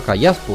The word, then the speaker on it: Callaspo: está que me dijo que su nombre su apellido se pronunciaba callaspo yo lo pronuncié mal